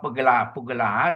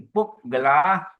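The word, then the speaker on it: puggalā: Then you the law again and then double consonant we pause sister sumitra has put the line there so you must pronounce p gel not pah p gel no you should be puk gela at satang pasat ta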